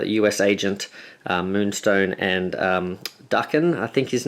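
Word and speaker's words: Daken: I know we've been pronouncing him Dacan or Dhakan. Um but I think it might actually be Duckan. I was sort of trying to do a bit of research. I'm probably butchering the pronunciation anyway, but I think it's supposed to be darken or something like that. Um anyway, let's have a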